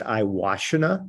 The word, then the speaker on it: Iwashina: guys i'm so my last name is pronounced iwashina like i wash in a bathtub for those who look